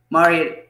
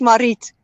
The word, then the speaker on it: Marit: Mari, how are you? Am I saying your name Well, correctly? yeah, most English speaking don't say it correctly, but it's Marit. Marit.